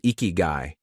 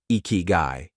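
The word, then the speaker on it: ikigai: In Japan, this powerful idea is called ikiguai, pronounced ikyu.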